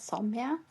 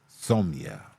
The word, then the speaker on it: Somaya: did please Somaya hi I pronounce my name as somia Som all right somia